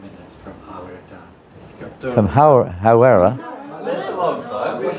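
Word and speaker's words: Hāwera: Hawera. Hawera. Say you're in Hawera. Is that how you pronounce it?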